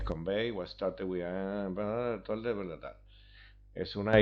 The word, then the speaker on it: Convai: Combine pronuncias convey, o sea que ya sabemos que en vez de Combine es convey.